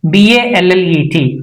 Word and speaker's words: ballet: We should not make it louder. That means it's a silent. It becomes silent. So how would it be done? B A L L E T ballet.